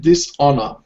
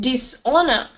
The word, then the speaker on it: dishonor: continue um dishonest and dishonor the H the H is silent it's like saying honest yeah and honor okay dishonest dishonor yep okay this uh